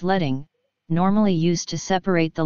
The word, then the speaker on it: leading: below a font or line spacing pronounced as letting normally used to separate